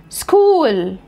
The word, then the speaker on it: school: طب الكلمات ديت بتتنطق كي، كي، فانا بقولها technology. دي الشواذ بتوعها، technology، technical، mechanic، psychology، alchemist، biochemistry، chemistry، chemist، character، character، echo، mocha cafe، orchestra، physical، scholarship، scholarship، school.